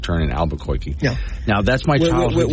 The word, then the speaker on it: Albuquerque: By the way, it's pronounced Albuquerque.